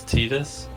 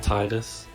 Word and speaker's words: Tidus: their chronicle name is tidus but most people including me thought it was pronounced titus it's tid u.s oh yeah shirt actually